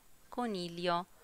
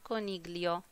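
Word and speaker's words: coniglio: كونيليو، وبنلاحظ أن حرف الجي لو جه بعدي حرف الال مش بيتنطق، فبتبقى كونيليو مش كونيجليو.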